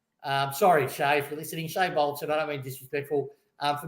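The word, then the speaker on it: Shai Bolton: So Shy Bolton. See, he's said it wrong already. We're only 2 minutes down. Shay, I did on purpose. Shay Bolton. I'm 50, man. I do it my way. So Shay Bolton.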